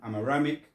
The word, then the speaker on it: Aramaic: I can't pronounce that one. Aramic. Yeah, Aramaic.